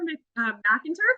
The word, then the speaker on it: McInturf: Alexandra McInturf. Is that how I pronounce it? Yep, you got it.